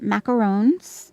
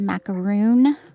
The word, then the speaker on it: macaron: If it looks like this, it's a macaron. If it's not a layered pastry cookie like this, then it's a macaroon, which is coconut.